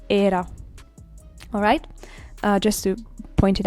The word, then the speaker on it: era: In Spanish, all the vowels are closed, so we don't have the possibility to say era. We have to say era.